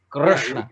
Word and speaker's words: Krishna: It's not re. It's r. Right. Rishi, that is what it is. Okay, thank you very much. I just want to. Krishna. That r you should be able to extend infinitely.